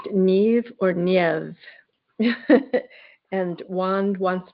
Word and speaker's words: Niamh: name and it's spelled N I Mh. So it looks like Nim or Nim, but it's actually pronounced nev or nev.